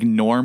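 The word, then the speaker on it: Gnorm: or gorm it was like Norm with a G right Norm yeah I bet that's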